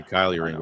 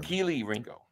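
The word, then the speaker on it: Kelee Ringo: Everyone's like, "It's not," because you always call him Kylie. You say Kylie Ringo all the time. Keely Ringo.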